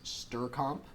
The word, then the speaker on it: strcmp: There are other ones that are also in the string library, such as strcomp, which is spelled strcmp, which you use to compare strings to each other.